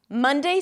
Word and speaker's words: Monday: Monday starts with an M sound, then another cup vowel sound, ma, and an N. Mun, mun, mun. Just like in the word month.